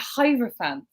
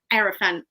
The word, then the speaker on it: Hierophant: really is manly energy mountain cards see i pronounced it with a like a hierophant no because we had this discussion i know and you took the piss out of me because i think i said aerofan thanks jim thanks jim sorry that's what the